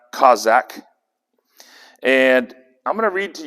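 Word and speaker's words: chazaq: concordance number 2388 and it is c-h-a-z-a-q it's pronounced kozak and i'm gonna read to you some of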